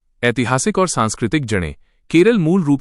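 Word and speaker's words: കേരളം: मलयालम भाषी लोग इसे हमेशा से केरलम ही कहते रहे हैं। केरल नाम अंग्रेजी उच्चारण के प्रभाव के कारण प्रचलित हुआ और संविधान में दर्ज हुआ।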